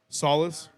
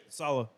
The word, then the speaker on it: Saleh: Solace, is that how you say it? Saleh.